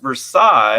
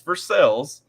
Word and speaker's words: Versailles: through Kentucky we literally we have towns like vers versales which should be pronounced Versailles vers not it's versales um Louisville is intentionally